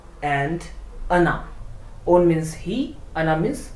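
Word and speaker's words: она: And whereas if we talk about the another word ana, there the stress falls on the last vowel a. That is why O is unstressed and pronounced as ana, not ona but ana.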